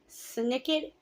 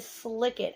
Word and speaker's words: Snicket: mistake on before comments I don't pronounce Snicket correctly I pronounce it slickit I don't know if